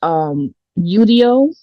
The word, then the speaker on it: Udio: There's also another one called Udio, and that's spelled Udio, so studio without the ST.